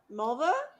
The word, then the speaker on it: Mulva: what's your name mulva does it rhyme with the female body part no up every song well you know yadda yadda you know melna it rhymes with vulva somebody needs a black